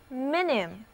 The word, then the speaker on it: minim: 微小的，两个字母 I 都发短的 I。